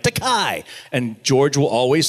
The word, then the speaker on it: Takei: T-A-K-E-I, they say Takei. Because they see the I. That's an American thing. You just follow the last vowel, right? Takei. And George will always say, it's Takei, rhymes with gay.